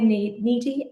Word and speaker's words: Needi: You did pronounce it right. And we're Needi, and we're a corporate concierge gift matching service.